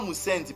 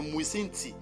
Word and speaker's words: Muisinti: Pour prononcer Muisinti, ils disaient Musendi. C'est pas Musendi, mais c'est Muisinti, qui veut dire indigène.